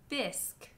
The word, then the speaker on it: bisque: If you see those at the ends of words, it means that it's just pronounced as a k. Like in the words plaque, torque, bisque, baroque.